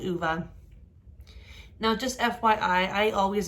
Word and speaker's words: Ove: assumed this was called ove like pronounced o for the name but it is uva because it's swedish and apparently that's how they pronounce that name but anyway like i